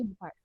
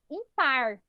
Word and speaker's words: ímpar: Porque se fosse o par, a gente falaria impar. Impar. Não é assim que a gente fala ímpar, né?